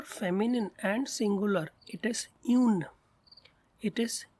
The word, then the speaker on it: une: Try to learn its pronunciation. It's un. And for feminine and singular it is une. It is une.